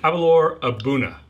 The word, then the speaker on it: Aberlour A'bunadh: going to drink some avalor abuna that's how you say it um a very impressive